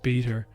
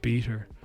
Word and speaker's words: b3ta: stuff and Co is it's spelled b3ta but it's pronounced beater um and they would